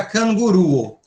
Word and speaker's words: kanguruo: Quantas sílabas tem a palavra kanguru? Que é canguru, evidentemente, tem uma vogal, duas vogais, três, quatro vogais. Se quatro vogais, quatro sílabas. Então, qual é que a gente eh eh qual é que a gente assinala? Acintua a penúltima, certo?